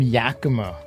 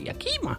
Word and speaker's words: Yakima: A lot of people pronounce it Yakima. Yeah. That's not how you pronounce it. It's Yakima, not Yakima.